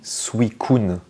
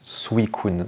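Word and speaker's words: Suicune: et bien on dit suikun normalement ça se prononce suikun alors là c'est c'est du japonais mais Julien bardakov quand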